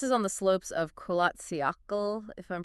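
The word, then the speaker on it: Kholat Syakhl: And this is on the slopes of Kolatsiakl, if I'm pronouncing that right.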